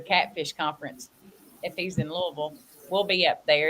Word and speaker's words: Louisville: Louisville. Oh, wait a minute. Hold up. What did you just call it, Avid?